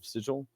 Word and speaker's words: Sigil: I think they deliberately pronounce it wrong for the city. They do deliberately pronounce it wrong. Yeah, because that's what messed poor Matt Mercer up so much. It's sigil.